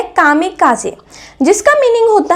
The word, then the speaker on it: kamikaze: pilot के बारे में इनको प्रोनाउंस किया जाता है काम काज जिसका मीनिंग होता है